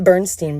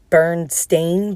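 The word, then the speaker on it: Berenstain: if you are roughly my age remember the bernstein bears and i say bernstein's because that's how it's pronounced i don't give a what anyone says about the burned stained bears what and if you were broke like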